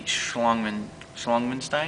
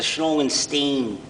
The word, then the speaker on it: Schlangenstein: And how long have you been playing the Schlangmenstein? It's a Schlangenstein. Schlangenstein. Forgive me. It's a stringed instrument.